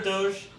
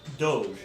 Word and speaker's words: Doge: long story mhm anyway name of the dog Doge or do do it's spelled do o g e there's multiple pronunciations for it do yeah even though